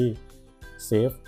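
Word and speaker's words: SAFU: ภัย ใน ระดับ ที่ เซฟ ซึ่ง คำ ๆ นี้ มา จาก CZ แห่ง binance นะ ครับ พูด คำ ว่า เซฟ แต่ เขา ว่า เขา ได้ ออก เสียง เป็น เซ ฟู นั่น เอง bish สภาพ ต ตลาด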